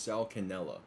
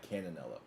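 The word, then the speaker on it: Sal Cannella: So it's Sal Canella, not Cananella.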